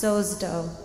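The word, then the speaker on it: σῴζω: speaks about being healed the verb he uses in greek is pronounced sozdo which means something more than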